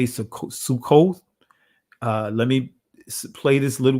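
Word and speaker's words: סוכות: And this is the ancient Hebrew pronunciation of Feast of Tabernacles. Chag Sakath. Let me say that again. Chag or Chaga Sakath, right? Many would say Sukkoth.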